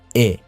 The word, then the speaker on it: et: We pronounce it as e, and it means and.